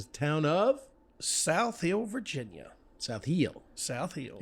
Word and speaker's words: South Hill: South Hill. South Hill. It's Hill, one syllable. Just Not like outside Tar Emporia. Heel. It's South Hill.